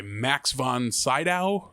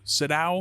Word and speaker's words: Max von Sydow: is that character's name and he's voiced by max von sydow siddow oh no kidding is that how you say his name uh max von cinda yeah someone who i frequently forget exists but